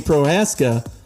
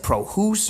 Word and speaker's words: Prohaska: So many people don't pronounce it correctly. What do you get? So I get Prohaska. I get House, like they add an H. I get like O's, like Prohoos or Prohaske.